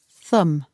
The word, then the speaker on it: thumb: four fingers and one thumb again be careful the pronunciation and the spelling are different the last letter B is silent thumb I hurt my